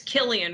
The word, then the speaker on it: Cillian: Yeah, it's Killian with the hard C.